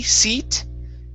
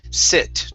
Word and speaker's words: sit: good let's go to the word sit instead of c seat okay let's use the short eye here sit try that very good